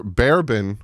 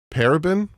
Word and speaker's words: paraben: baking soda free bar barabin free paraben free not barabin Doug paraben free again blocks ERS for 72